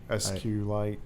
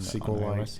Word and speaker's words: SQLite: which is the database based on SQLite or a sequel line depending on how you like to pronounce it yeah and it's very